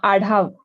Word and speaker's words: Adhav: welcome adav is it correct did I pronounce your surname correct huh adav adav thank God I need to learn pronunciations